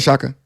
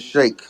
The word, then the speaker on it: Shake: Go ahead, Shaka. okay. My bad. My bad. Go ahead, Shaka. Bro, I'm gonna tell you this one time. My name is Shake. It's not hard to pronounce.